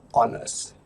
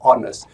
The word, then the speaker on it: honest: We have honest. Di sini meskipun hurufnya huruf konsonan H, E, O, H, tapi kita tidak membaca huruf konsonan ini dan kita membacanya sebagai honest.